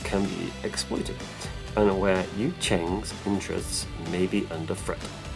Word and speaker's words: Yu Jing: the other great nation, is the Yu Jing, pronounced Yu Cheng. There you go, I've been saying it wrong. Yu Cheng.